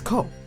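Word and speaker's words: 孤: The original word for Sparganum included this kanji, read as ko, meaning orphan or alone, which would be a rather unsuitable name for a king.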